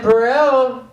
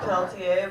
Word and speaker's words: Peltier: Congratulations, because that is the only time I've ever heard my last name pronounced that way. I've heard a lot. It's Peltier, but that is a new one. Yeah, Perel. It's like Perez and Peltier all at once.